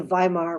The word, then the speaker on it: Weimar: new government called the weimar republic it's spelled with a w but pronounced with a v and so we look